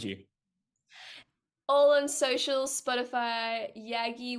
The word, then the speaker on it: Yagki: All on social, Spotify, Yaggi, YAGKI, the K is silent, and then on socials it is I am Yaggi, like I am Batman, but Yaggi version.